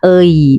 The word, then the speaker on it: 의: Ei pada suku kata pertama dibaca ei. Selain pada suku kata pertama bisa dibaca ei atau i atau ei atau e. Jadi maksudnya pelafalan sebenarnya adalah ei, tapi tidak salah jika dilafalkan i atau e ya. Dibaca e biasanya sebagai partikel posesif.